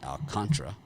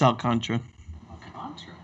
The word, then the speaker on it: Alcantara: in miami with sandy alcantara romano pronounces pronounce it alcantra but there's an a after oh i thought it was alcantara no it's all contra but there is an a after the t after that i've been